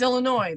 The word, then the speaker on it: Illinois: this way people say Illinois nuts it's Illinois the S is silent right it's Sil exactly